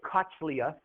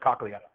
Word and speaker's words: cochlea: Some people say cochlea, so it doesn't sound as bad, but it's pronounced cochlea.